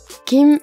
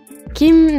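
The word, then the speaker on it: 김: qui comporte deux syllabes Kim Nam j deux caractères ici ont des prononciations spécifiques le premier se prononce entre le K et le G ce n'est ni un K franc ni un G franc que pour savoir si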